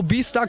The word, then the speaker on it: BStar: Das ist Toho Beastar Cosplay, so wie es ausgesprochen ist.